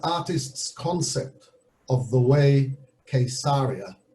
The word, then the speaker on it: Caesarea: of the way quesaria notice i said quesaria some people call it caesarea and uh it can be spelt in english with a c with a k i've even seen it spelt with a q but there's only one correct spelling of course and that's the hebrew spelling and in the hebrew spelling it is the way it was named quesaria for the quesad the